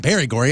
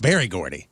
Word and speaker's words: Berry Gordy: saying it you go it's not very gory it's barry gordy that sounds exactly the same theory yeah berry